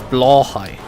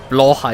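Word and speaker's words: Blåhaj: because that is effectively very similar to the German way of saying blue high a blue shark which would be blue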